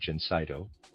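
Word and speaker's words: Gencydo: For this condition, we have our Jenseno preparation reader aside spelled Ge N C Y D O. I'm pronouncing that Jenseno and a reader's aside.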